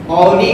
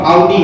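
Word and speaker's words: Audi: तो that's ऑडी। ऑडी नहीं है, वो ऑडी है, ठीक है।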